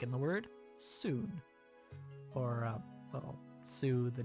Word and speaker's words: そ: そ This is so. Pronounce it as so, like in soda, or solar, or so.